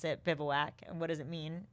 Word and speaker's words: Bivouac: Like everybody, the first question everybody asks, how do you pronounce it? Bivouac.